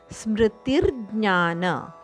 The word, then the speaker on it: ಸ್ಮೃತಿರ್ಜ್ಞಾನ: ಅಲ್ಲ ಸ್ಮೃತಿ ಸ್ಮೃತಿರ್ಜ್ಞಾನ ಸ್ಮೃತಿರ್ಜ್ಞಾನ ಅಲ್ಲಿ ಅರ್ಕವತ್ತಿದೆ ಆದ್ದರಿಂದ ಸ್ಮೃತಿರ್ಜ್ಞಾನ ಸ್ಮೃತಿರ್ ಜ್ಞಾನ ಈತರ ಉಚ್ಚಾರಣೆ ಸ್ಮೃತಿರ್ ಜ್ಞಾನ ಮಪೋಹನೈಂಚ